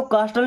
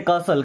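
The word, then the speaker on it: castle: क्या पढ़ते हैं फसेसन इसको कास्टल नहीं पढ़ते कासल क्या पढ़ते हैं कासल इसको रेस्टल नहीं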